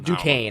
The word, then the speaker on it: Duquesne: I don't even know how you pronounce it. DeQuincy? DeQuincy. DeQuan? Just something. Duquesne.